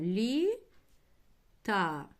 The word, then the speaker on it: літа: Лі та. Літа, друзі, ставимо наголос на а.